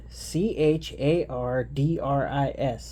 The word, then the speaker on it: Chardris: wrong chargers chargers chartis Char chalkboard all right c-h-a-r-d-r-i-s chardris Chargers Fireball wizard Kato katsuro 2008 Gen